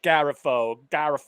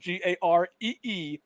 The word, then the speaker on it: Garifo: comedy, and it's always my last name is right there, Garifo, but it always gets butchered. Like Garifo, and I tell them I write it down phonetically for them, Gareefo, and it's the worst